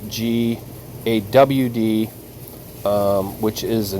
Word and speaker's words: Gad: And I don't know if anybody is interested, but we did do a video on GAD, which is pronounced GAWD, which is the name of a mighty one, the fallen.